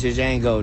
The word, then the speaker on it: Django: He said, "My name is Django." The J is silent.